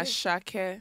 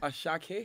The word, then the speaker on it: Asake: you pronounce it aake asake asake he has a aake aake oh my goodness like um a like air a but don't don't pronounce the r like that so like